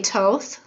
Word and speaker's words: Thoth: Some people say Toth, and I say Thoth as far as how to pronounce this particular god here, Egyptian god.